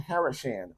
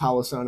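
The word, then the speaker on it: Holosun: see much because I got my haran on there yes I know it's pronounced hoson I'm just saying it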